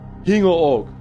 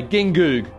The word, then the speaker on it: Gingoog: the south in a a town called hingo org it's spelt g-i-n-g-o-g like as a australian i'd say gingoog and then so no